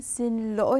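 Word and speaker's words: xin lỗi: 실로 이렇게 되어 있죠 성조 하나도 적혀있지 않아요 그런데 발음할 때는 씬 로어 이렇게 하셔야 되요 신도 2 이것도 마찬가지로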